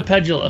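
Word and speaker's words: Pedulla: It's a Pedula.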